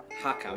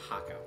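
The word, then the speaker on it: har gaw: is called hakka yeah it's like i don't know who came up with this spelling they spell it with h-a-r-g-a-w right h-a-r separate word g-a-w separate word i don't know who came up with this spelling but none of that say haka the first two letters do it so the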